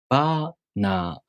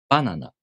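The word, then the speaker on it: バナナ: The pattern for this word is head-high. Banana. Banana.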